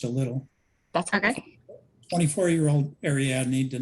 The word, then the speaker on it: Ariadne: First, how do you pronounce this person's name? Ariadne.